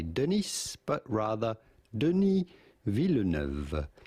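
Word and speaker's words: Denis Villeneuve: Uh, and so, uh, Dune, uh, Denise Villa, his take on it. Did I get that right? I believe it's pronounced entirely differently, but I don't know how.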